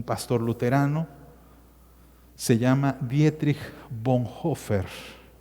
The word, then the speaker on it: Bonhoeffer: luterano se llama dietrich bonhoeffer se escribe bonhoeffer bonhoeffer verdad bonhoeffer así se escribe pero se pronuncia con hoffer lo tengo en